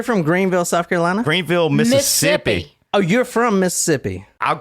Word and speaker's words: Mississippi: Southern actually when you when you pronounce Mississippi you don't pronounce the other set of s's that's how you know somebody's from there Mississippi I'm from Mississippi oh yeah so if